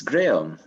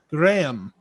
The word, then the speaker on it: Graeme: us and i'm sorry i assume we say it graham or how do you say your first name it's it's graham graham yeah was probably with